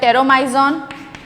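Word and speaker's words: Petromyzon: They have 2 example, एक तो टेरोमाइजॉन जिसमें पी जो है वो साइलेंट है, टेरोमाइजॉन and magazine, so these are 2 examples, टेरोमाइजॉन and magazine.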